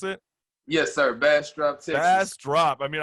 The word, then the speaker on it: Bastrop: you're at in bastrop is that how you pronounce it yes sir bass drop test ass drop i mean i love that